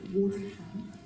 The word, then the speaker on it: Waltham: Okay, so what we're going to do now, we're actually going to have the youth mayor for Waltham. I think that's how you say it. Waltham.